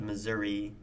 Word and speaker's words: Missouri: childhood growing up in Missouri Missouri well no it's pronounced Missouri I grew up in